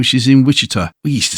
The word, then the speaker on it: Wichita: Is it Wichita or Wichita? How do you say it? I say Wichita. Yeah, that's typically how we say it.